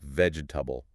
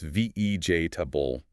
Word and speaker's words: vegetable: But in natural everyday speech, the middle e syllable almost disappears entirely or is greatly reduced. It's pronounced ve tabul.